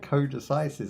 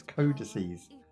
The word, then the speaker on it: codices: So I said codises, I think, but I'm not really sure how pronounced it, but it's codices.